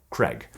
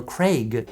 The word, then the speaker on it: Craig: When you've got an American accent, it just doesn't come out naturally. We want to, you know, like blunt Craig. But if you have a British accent, Daniel Craig, you know, is just,